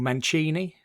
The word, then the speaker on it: Mancini: So he was up against this this American called Ray Mancini or Manchini. Americans say Mancini, don't they?